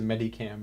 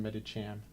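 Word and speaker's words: Medicham: favorite Niche Pokemon meditam I always say it as Medi cam but I think it's pronounced medichan I'm a huge fan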